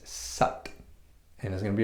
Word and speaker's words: Sat: however when we go when we do the korea it's actually more closely pronounced as sat and there's going to